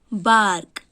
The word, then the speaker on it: bark: Bark. Here is R letter is silent.